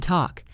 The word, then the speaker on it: talk: And let us not forget the silent L in walk and talk. We do not say wall K. We say walk.